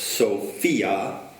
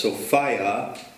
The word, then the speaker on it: Sophia: But of course, Sophia, which has the word fia in it, fear, whereas Sophia rhymes with desire.